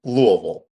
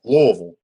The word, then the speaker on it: Louisville: It's Louisville. Yeah, we have you got you got to say it like you have a mouthful of zins. Yeah. You need marbles in your mouth. You you you you skip some steps.